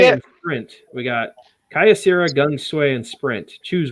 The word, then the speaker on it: Kyocera: We got Kyocera, Gung Sway, and Sprint.